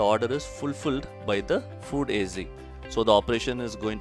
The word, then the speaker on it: FoodAZ: So about the business, the business name is FoodAZ, and that's the way we pronounce it, FoodAZ.